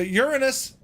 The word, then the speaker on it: Uranus: you know H there's Phoebe look H so Uranus that's how it's pronounced H and Gaia Kus Phoebe Cronus and